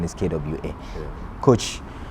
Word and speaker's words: Kwasi: So but the correct pronunciation is Kwesi. Kwa.